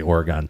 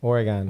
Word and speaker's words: Oregon: I say Oregon too I say Oregon yeah I think there's up for that's Up For Debate how you actually say that I know what spell o n wouldn't it be g o n e if it was gone yeah true yeah yeah